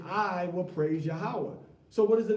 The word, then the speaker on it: Yahweh: Yahweh ends with a ha'a.